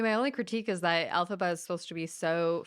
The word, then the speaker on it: Elphaba: I think I got the context for Ifalba. How do you say her name? Elphaba? Elphaba.